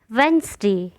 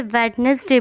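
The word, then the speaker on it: Wednesday: वेंसडे, कई लोग इसे वेडनेसडे बोलते हैं, वेडनेसडे नहीं, वेंसडे।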